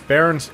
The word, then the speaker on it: Bearn: They pronounce it Bearn.